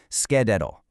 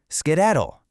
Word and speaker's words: skedaddle: It's broken down into three distinct syllables: ske, dad, diddle. Actually, go ahead and say it out loud with me right now, wherever you are. Skedaddle. Skedaddle.